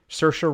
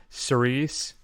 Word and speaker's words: Saoirse: Johansson in Marriage Story, Saoirse Ronan in Little Women. You know, actually I pronounced her Sirius.